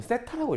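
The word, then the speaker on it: θ: 그 여기 써있는 이 골뱅이 모양은요, 세타라고 읽어요.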